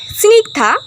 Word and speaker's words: স্নিগ্ধা: মানে দল অর্থাৎ এইযে এই নামটার ব্যাপারে করি যে স্নিগধা এখানে স্নিগ স্নিক যুক্ত ধা স্নিক যুক্ত ধা